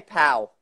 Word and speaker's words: Paola: Just say Pow.